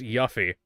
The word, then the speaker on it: Yuffie: It's pronounced Yuffie.